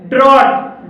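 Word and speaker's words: drought: जी H silent है ड्रॉट ड्रॉट में ओय के बाद जी एच है और यहां पर जी एच साइलेंट है ब्रॉड ब्रॉड में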